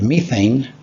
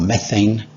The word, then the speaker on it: methane: dioxide at co2 and methane or methane both pronunciations are okay and nitrous oxide in